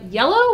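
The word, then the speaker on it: iello: this time developed by yellow we think we're pronouncing that right i-e-l-l-o that's how i would pronounce it the logo is also yellow the color so that's the guess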